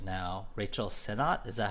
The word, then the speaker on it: Sennott: Rachel Sennott, is that how you say her name?